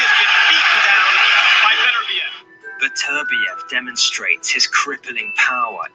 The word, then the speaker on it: Beterbiev: So it is Beterbiev. I've been saying it wrong. I said Beterbiev. It's Beterbiev.